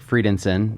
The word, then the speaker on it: Friedensohn: my name is friedenson that's my last name I messed it up it's like a silent h in there it's a hard German last name uh but I was